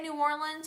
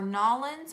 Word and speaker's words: New Orleans: Adam from do you do you say New Orleans or nollans or how do you